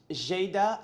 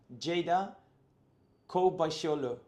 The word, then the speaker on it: Ceyda: your name how would you spell it how would you say it okay okay cold B Jada so Jada or Jada Jada K wow okay so I'm going to I'm going